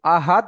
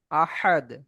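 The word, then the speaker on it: أحد: তো বড় হার উচ্চারণ কণ্ঠনালীর মাঝখান হতে হ্যাঁ, হ্যাঁ, গলার কণ্ঠনালীর মাঝখান হতে। আর ছোট হার উচ্চারণ একদম শুরুর দিক থেকে হা। তো মাশাআল্লাহ। আহাদ বলা যাবে না, বলতে হবে আপনার শুরু থেকে গেছে।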